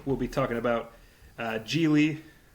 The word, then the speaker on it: Gigli: be talking about uh jie rhymes with really um really a good way to remember it so we'll be